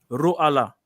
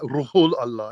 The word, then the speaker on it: Ruhul Allah: Ruh Allah. No, it doesn't say Ruh Allah. Ruhul Allah, innit?